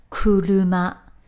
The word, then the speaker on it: 車: when that character stands on its own it's pronounced crew luma and it means simply car let's have a